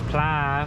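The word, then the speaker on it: ปลา: Yeah, well, I was asking if it was pla, which should be fish, but I don't say it properly. I think it's with a downwards pla.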